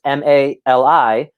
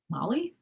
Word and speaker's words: Mali: and his name is m-a-l-i how would you pronounce that molly that's the right way to do it good for you i'm just saying i was saying mali like mali like now anyway but that was